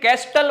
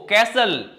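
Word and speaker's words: castle: Build कैस्टल मत बोलना इसको, कैसल, एसटीएल कभी भी एक साथ है तो टी हो जाएगा साइलेंट।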